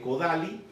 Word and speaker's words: Kodály: Se escribe Kodály, pero se pronuncia Kodály.